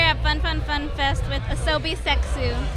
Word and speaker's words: Asobi Seksu: fun fun FunFest with Asobi sexu how do you say your name is it as soie sex y you said it correctly it's just we started